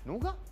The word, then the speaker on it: Nougat: update 7.0 which is nuga nuga that's correct a lot of people mispronounce it but it's called nuga I can't even pronounce